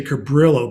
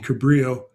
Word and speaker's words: Cabrillo: And then you'll end up emailing I always say Cabrillo, but that's probably the gringo pronunciation. The Mexican or Spanish would be Cabrillo, to the contest sponsor.